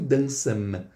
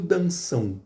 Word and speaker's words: dançam: Então eu não pronuncio dançam, eu pronuncio danção. Olha o som do u.